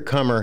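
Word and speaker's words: Qamar: way it's QAM AR right yeah and it's pronounced like c om e ER Oh comer so so what we haven't heard like the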